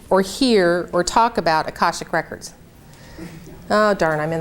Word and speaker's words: Akashic: Akashic. Akashic.